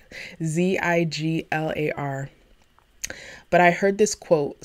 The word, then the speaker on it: Ziglar: the man's name wrong it's Zig Ziglar Zi ji lar but I heard this